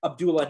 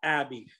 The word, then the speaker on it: Abdullah: though samir not sammy abdullah not abby this ain't some rap